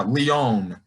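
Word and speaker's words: Lyon: gonna be so hard to pronounce it it's pronounced leone but i keep calling him leon but it's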